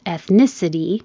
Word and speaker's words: ethnicity: And if it's ethnicity, the stress moves to the second syllable. Ethnicity. This can be elite or elite because the E is not stressed.